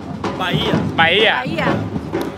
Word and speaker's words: Bahia: So as these drummers, these let me say it right, Bahia? Bahia. H is silent.